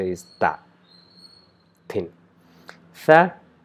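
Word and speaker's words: ث: Tha, we join our tip of the tongue to the tip of the top two incisors and try to pronounce sa, but since in order to pronounce sa, our tongue needs to be inside the teeth, but since we are joining the tip of the tongue with the tip of the top two incisors, we will not be able to produce the sound sa perfectly, and resulting the sound tha.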